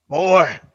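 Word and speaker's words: Boi: You gotta say it like old man Kratos. Boy.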